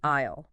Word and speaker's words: aisle: You call it the aisle. Isle. That's a strange word. How do you spell it?